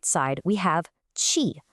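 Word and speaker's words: 气: And then on the right side, we have chi, pronouncedqi, which means air or even steam.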